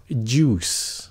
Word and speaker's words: juice: Cái chữ này phát âm là juice. Các bạn tưởng tượng làm như chữ chú, làm như chú của mình vậy đó, hay là chú ý vậy đó.